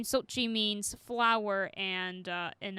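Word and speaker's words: Xochitl: that uh schulte it looks like sochi gomez according to wikipedia that's how you pronounce it but don't quote me on it yeah sochi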